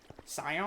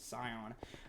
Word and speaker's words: Scion: Scion? I think you're supposed to pronounce it Scion.